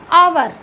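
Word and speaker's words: hour: करेंगे नेक्स्ट हमारा है अवर अवर हमारा है इसमें क्या नहीं कह सकते हैं की ये हमारा कंसोनेंट है ह जो है इसमें ह साइलेंट है इसमें ह साइलेंट है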